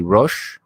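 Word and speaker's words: resh: uh example would be rosh what does rosh mean rich sorry we say rish but it also means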